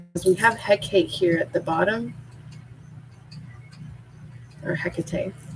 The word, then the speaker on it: Hecate: it's k-a-t-e so it's order i was actually pronouncing it heck hecking and i've been hearing it it's hecate and honestly it rain belts with me when